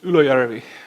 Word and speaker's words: Ylöjärvi: That surname is very common in Finland, and he lives in a place called Ylöjärvi. If you pronounce the place right, it sounds like somebody's growing up, but that place really exists in Finland.